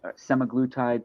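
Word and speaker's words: semaglutide: drugs um some maglotide semi-glutid people pronounce it different ways I say some magical type uh somalotide is this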